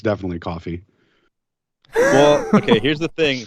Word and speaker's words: Ko-fi: okay here's the thing here's the thing about saying it Kofi is it's spelled really goofy right so if you say Kofi no one's going to know how to spell what you just said so they're going to have to ask how to spell it which is exactly what you want when it's spelled ko-fi exactly if you say coffee